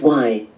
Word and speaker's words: wai: You'll see this in the first part of Waikiki, where wai is the Hawaiian word for fresh water and is pronounced y.